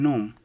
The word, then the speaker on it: gnome: words like name unknown the g is silent in gnome for 24 the letters